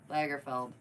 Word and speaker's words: Lagerfeld: felt Lagerfeld let me double check yeah okay Lagerfeld Carl it's Carl Carl nobody likes Carl I